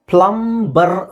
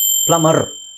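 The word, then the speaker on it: plumber: ಮಾಡಿ ನೆಕ್ಸ್ಟ್ ನೋಡಿ ಇದು ಪ್ಲಂಬರ್ ಅಂತ ನಮಗೆ ಅನ್ಸುತ್ತೆ ಪ್ಲಂಬರ್ ಸೋ ಇಲ್ಲಿ ನಾವುಬಿಎಂ ಮತ್ತೆ ಬಿ ಬಂದಾಗ ಆಕ್ಚುಲಿ ಎಂ ಮತ್ತೆ ಬಿ ಕೊನೆಯಲ್ಲಿ ಬಂದಾಗಬಿ ಸೈಲೆಂಟ್ ಆಗುತ್ತೆ ಪ್ಲಮ ಅಂತ ಹೇಳ್ತೀವಿ ಅಷ್ಟೇ ಪ್ಲಮ ಪ್ಲಮರ್ ಇಲ್ಲಿ ನೀವ ಅರ್ ಅಂತ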